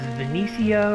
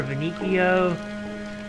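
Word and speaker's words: Veniccio: to the next area which is Benicio or vinicio however you want to pronounce it I pronounced it Benicio alrighty let's move him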